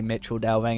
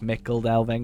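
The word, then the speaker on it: Michel Delving: I know I say Mitchell Delving and it's supposed to be like Mickle Delving or whatever.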